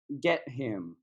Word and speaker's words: get him: Get him. Notice we don't really say the H sometimes, right? Unless you want to emphasize it. We normally would say get him.